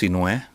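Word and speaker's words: Sinhue: is my real my my full first name is spelled s-i-n-h-u-e yeah and it's pronounced cinoya and it's egyptian so sin is the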